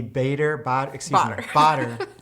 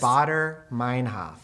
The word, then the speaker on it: Baader-Meinhof: The Bader. I could not say it correctly. I don't know what I said in the talk, but the correct pronunciation Tell us what is it is. Baader-Meinhof.